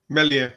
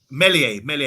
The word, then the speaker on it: Meslier: How do you pronounce the name? Meslier. 21-year-old. Meslier, excuse me.